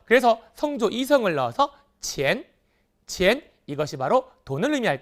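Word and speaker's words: 钱: 바랍니다 그래서 여기 나온 돈이라는 단어 도요 치환이라는 것이 아니라 어떻게 읽어라 치엔이라고 읽어야 겠죠 그래서 성조 이성을 넣어서 치엔 치엔 이것이 바로 돈을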